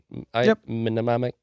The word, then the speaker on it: mnemonic: are basically just large-scale mnemonics right I say that word right mnemonic yeah the m is silent right you just say